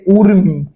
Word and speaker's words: উর্মি: তারপরে দেখেন 2 নম্বর যেটা দেখছি সেটা হচ্ছে রস্যু দীর্ঘ বানানে যেটাই থাকুক না কেন উচ্চারণে রস্যও হয়। উচ্চারণে কি হয়, রস্যও হয়। বানানের বানানের রস্য দীর্ঘ যেটাই থাকুক উচ্চারণে কি হবে, রস্যও হবে। যেমন দেখেন এই যে উর্মি,